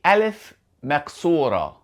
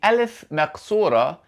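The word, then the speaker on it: ألف مقصورة: Firstly, this is the alif maksura and the alif maksura sounds like the English letter A. So the alif maksura sounds like the letter alif.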